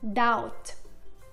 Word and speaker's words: doubt: ولكن اسمعوا هون. Climb Doubt. هون بكلايم وداوت ما نطقنا حرف الـ B.